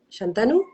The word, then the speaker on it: Shantanu: Shantanu, ¿se pronuncia your name? Shantanu?